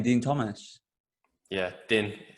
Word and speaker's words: Din: Yeah, Din. It's actually D-I-N, isn't it? Yeah, but you pronounce it Dean, don't you?